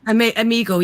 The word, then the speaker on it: Omegle: Omegle, yeah.